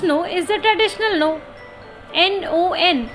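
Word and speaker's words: non: N-O-N is pronounced as no in French.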